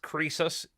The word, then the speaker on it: Croesus: Now finally, I think it's pronounced Croesus. Yeah, he says here Croesus BTC.